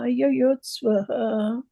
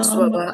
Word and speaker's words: yuyutsavaḥ: Not swaha. No, not swaha. That's what I was telling you. Swavaha. Yeah. Samavetā yuyutsavaḥ. No, not swaha. Swaha. Not swaha. Put your eyes on that word and see what is written there.